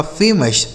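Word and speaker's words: famous: ओ यू का उच्चारण अ हो गया। एस से स यह लिखा आपका फेमस।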